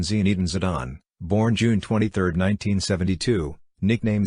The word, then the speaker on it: Zinedine Zidane: Zinedine Yazid Zidane OLH, AOMN French pronunciation Zinedine Zidane, born June 23, 1972, nicknamed Zizou, is a French professional football coach and former player who last managed Real Madrid.